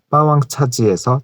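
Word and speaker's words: 霸王茶姬: 참고로 한국과 같은 비중국어권에서 쓰는 브랜드 차지는 패왕차이의 중국 발음 빠왕차지에서 차지만 따와서 쓰는 거고요.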